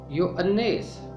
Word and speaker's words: یوحنا: زبان کا لفظ ہے۔ یونانی میں اس کا تلفظ ہے یوانیس۔ یوانیس کا مطلب ہے